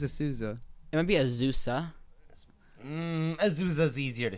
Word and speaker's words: Azusa: Azusa. APU. Yeah. Azusa Pacific, right? Azusa. Two soft. Two Z's. They're both voiced.